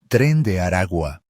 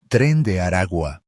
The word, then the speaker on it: Tren de Aragua: from Venezuela is pronounced Tren de Aragua. Tren de Aragua. The letter G in the final word is pronounced very softly, as it sits between two vowels. Tren de Aragua. Tren de Aragua.